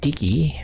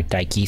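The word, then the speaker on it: Δίκη: here portrayed temporal justice Dickie or Daiki some people say as the daughter of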